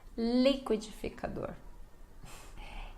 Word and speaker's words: liquidificador: Essa também é difícil para brasileiros quando estamos aprendendo, né, a falar ainda, crianças, que é liquidificador. E é difícil, né? Mas vamos lá, ó. Liquidificador.